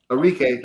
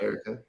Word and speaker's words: Arike: Arike, not Erica.